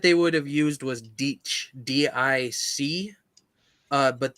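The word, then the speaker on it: dīc: the word that they would have used was ditch, D-I-C, but the C is pronounced as a ch, so more like a it's just a big Like, earthwork that you it's hard to attack through.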